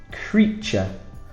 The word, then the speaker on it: creature: Creature. Very difficult here. So E-A is the E sound, and ch, T-U-R-E is a ch sound, which is very difficult to spell and pronounce.